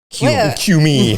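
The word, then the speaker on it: Kume: But K-U-M-E with an inflection. Cue me.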